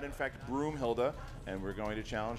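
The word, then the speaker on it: Broomhilda: he said Brunhilde agreed the answer is broom Hilda broom broom like what you sleep with he said Brunhilde like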